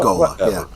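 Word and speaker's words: ghola: Gola Gola. That's how it's pronounced. Gola.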